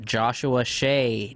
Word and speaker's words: Joshua Shea: He is an author and a pornography addiction expert, Joshua Shea. Did I pronounce that right?